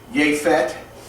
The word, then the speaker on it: Yephet: Ham is pronounced Ham, and it means hot, and that's actually pronounced in their Hebrew is Yephet, and it means opened.